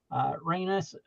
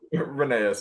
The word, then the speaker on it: Rheneas: So this is Reynes, and really nice. And this is just Christian, you have to do the work on that for the pronunciation. yeah, Rheneas, yeah.